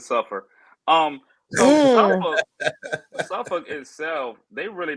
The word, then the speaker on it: Suffolk: Well, that's actually how they pronounce it. They actually pronounce it suffer.